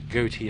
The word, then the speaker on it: Gootee: Also Kevin Gootee. Goatee, you can pronounce it Goatee, of course. Gootee is the way it's spelled, Gootee.